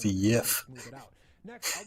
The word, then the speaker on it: Jif: that it will never be as smooth as Jif. That stuff has mega machines doing all the Jif. work, and there's You a pronounced it bunch of wrong. It's pronounced the to Yif.